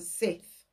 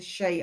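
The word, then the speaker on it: Sidhe: in comes the she now I've been pronouncing that as a Sith honestly my Celtic language is no good it's not it's the she I looked it up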